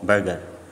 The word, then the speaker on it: burgher: सबसे पहला सवाल है सिनोनिम ऑफ बर्गर। अच्छा, इसमें इसकी स्पेलिंग देख लें, BURGHER, ये है बर्गर। और एक होता है BURGUR, बर्गर। बर्गर वो बन वाला।